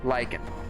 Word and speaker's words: lichen: Lara sure why not is it pronounced lichen am I curious enough to check I think so pronounce lichen like it we we had it right the first time okay moving on so